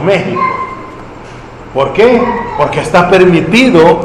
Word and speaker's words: México: ejemplo usted ve que se escribe México y decimos México por qué Porque está